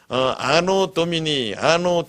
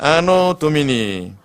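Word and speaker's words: anno Domini: AD는 무엇이냐면 라틴어로 아노 도미니 따라합시다. 아노 도미니. 이 아노 도미니라는 말이 뭐냐면은, 아노라는 말이 해, 년이라는 말입니다. 이게 발음을 잘해야 돼요.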